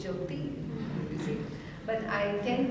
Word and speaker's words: Jyoti: But I tend to say T, like T, like Jyoti. Actually, it is Jyoti.